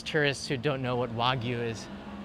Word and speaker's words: Wagyu: That means it's geared towards tourists who don't know what Wagyu is. They probably pronounce it waygu, which is funny to me.